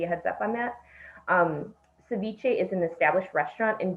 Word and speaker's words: ceviche: 9A, consider liquor license for Ceviche. Is that how you pronounce it?